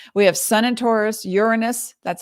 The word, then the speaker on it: Uranus: here looky looky we have sun and taurus uranus that's how it's pronounced in taurus north node in taurus mercury